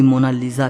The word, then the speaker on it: Mona Lisa: सही स्पेलिंग यह है कोई इसे मोना लिसा कहता है तो कोई मोना लीजा कहता है लेकिन इटालियन में इसकी करेक्ट प्रनंसीएशन है मोनालीसा इसका मतलब होता है माय